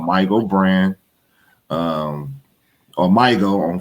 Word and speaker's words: Mygo: So when it comes with Mygo, it's MYGO. If you break the word down and syllable it, it's a my go.